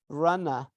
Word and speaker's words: runner: is prominent okay but it's not pronounced at the end of the word unless it is followed by a vowel so we say rana rana okay this is